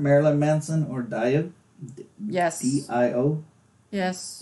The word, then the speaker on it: Dio: D-I-O? Yes. Dio. Dio or Dio. People argue over the pronunciation of that. I think it's Dio, but I like Personal Jesus by Marilyn Manson and their cover Sweet Dreams.